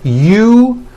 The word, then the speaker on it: usual: Break it up into 3 syllables. U-ju-o. That second syllable, ju, the one with the underline, needs to be voiced.